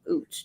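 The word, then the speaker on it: Utz: the uh I printed I heard it's pronounced OOTS because it was a German company they make potato chips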